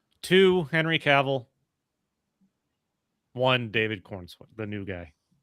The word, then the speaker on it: Corenswet: Uh, then Brandon Routh Routh, whatever how you pronounce it. Um David Corenswet, uh, how do you say his name? Corenswet. Yeah. Corenswet.